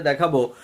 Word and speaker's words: the: নিয়ে আসছি আজকের এপিসোডে দেখাবো যে টি এইচ ই এর উচ্চারণ কখন ডি হয় এবং কখন দা হয় এই দুইটা উচ্চারণের আজকের